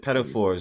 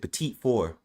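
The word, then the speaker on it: petit four: We don't We don't pronounce it pedophores. We pronounce it petite four.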